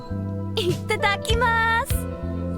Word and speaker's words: itadakimasu: Itadakimasu! Oh, she pronounced it correctly.